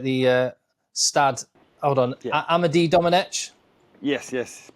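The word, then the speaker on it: Amédée-Domenech: Amade Dominich. Yes. Yes.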